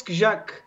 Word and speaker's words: Skrzak: And she says, oh, yes, the Skrzak. And everyone in the house turns around and is the what now? to which she says, oh, yes, Skrzak, R and Z in Polish language is pronounced Z.